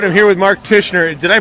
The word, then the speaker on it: Tichenor: thursday night all right i'm here with mark tishner did i pronounce correctly good enough okay titchener titchener yeah it's a really awkward last name oh